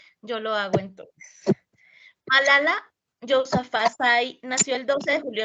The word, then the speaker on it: Yousafzai: Así como lo estás pronunciando Yousafzai, porque pues es que eso es como árabe y pues la pronunciación a veces Okay.